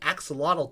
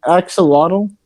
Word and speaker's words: axolotl: Would you say axolotl? Yeah. What's an axolotl? It's astronaut. What? In the actual Maztec language, you pronounce the X with the ch.